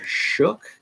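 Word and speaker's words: Shough: moving up the board and that is Tyler shook out of Louisville yes that's how it's pronounced he's been moving up so I've got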